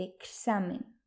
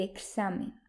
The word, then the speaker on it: examen: en general sino que el sonido de la letra x equivale a dos fonemas el fonema k y el fonemas cuando aparece una equis en español se pronuncia por ejemplo el examen el examen el extranjero el extranjero